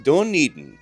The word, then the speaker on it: Dunedin: In Gaelic, it's pronounced Dunedin, meaning hill fort of Eden.